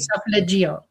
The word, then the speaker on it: solfeggio: The solfeggio. And that's how you say it, solfeggio.